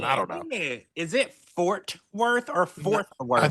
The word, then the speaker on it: Fort Worth: Fort Worth. I wonder how many people have also called it Fourth Worth, like me, Mhm. because honestly, I never True. I was saying it wrong.